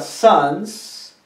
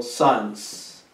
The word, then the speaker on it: sons: Entonces, tome en cuenta cuando leemos la palabra sons, acordémonos de pronunciar la S, porque es plural, se refiere a dos hijos o más.